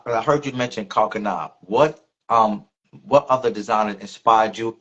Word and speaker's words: Kani: I was like, oh, okay, I heard it pronounced right. And I was like, okay, it's Kani.